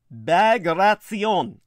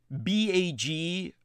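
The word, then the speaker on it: Bagration: entire spoken study tonight operation bagratzion which you would never know was pronounced that way by its spelling b-a-g-r-a-t-i-o-n most people who look at my name would assume d-i-e-t-r-i-c-h they'd think that was pronounced well most people would look at that name and they would think it was pronounced bag ration as in a bag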